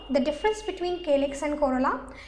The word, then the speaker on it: corolla: Corolla, you can easily remember the difference between calyx and corolla. If you pronounce corolla, it's pronouncing somewhat similar to the color.